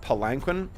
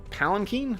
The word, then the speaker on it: palanquin: it is a sandal palanquin or pakin palankin I think is the way to pronounce that palen um uh class